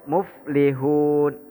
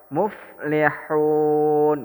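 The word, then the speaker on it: مفلحون: Yang jenengan baca itu muflihun. Huruf ini, huruf H bukan huruf H. Nah, kalau bacanya muflihun baru benar dia di tengah-tengah kerongkongan. Ha di tengah-tengah kerongkongan, sedangkan ha itu di kerongkongan paling bawah gitu.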